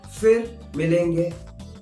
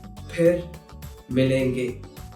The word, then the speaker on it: फिर मिलेंगे: So, if you hear someone saying fir milenge, that is incorrect. The correct pronunciation is phir milenge.